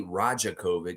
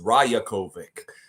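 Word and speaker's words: Rajaković: was like oh crap the J is like that of course it's yokich it's not jokic so why would it be rajakovic it's rajakovic so I want to make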